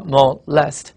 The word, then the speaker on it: molest: 因为它重音在第二音节，你读一读啊，molest。